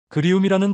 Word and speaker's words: 그리움: 그리움이라는 단어를 발음해 보세요. 입안에서 부드럽게 굴러갑니다. 그에서 시작해서 움으로 끝나는 그 곡선.